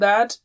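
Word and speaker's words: ث: So if this is teeth and this is the tongue, you touch the tip and blow with a light sound like tha.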